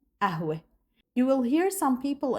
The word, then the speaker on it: قهوة: And one of these words that consists of qaf and is pronounced as f is qahwa. So you say ahwe.